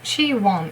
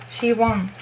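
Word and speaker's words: Siwon: So she won. It's easy. It's really how you would read it after seeing this.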